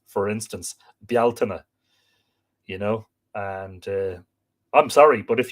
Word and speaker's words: Bealtaine: Bealtaine is not pronounced Beltane in any language. Bealtaine is an Irish word, and that's how it's pronounced, Bealtaine, not Beltane, and Samhain I've heard being called Samhain.